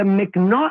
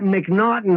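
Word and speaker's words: M'Naghten: In the United States, we have something called the McNaughton Rule, and it's spelled M''N''A'G. It's like and somehow we got McNaughton out of that.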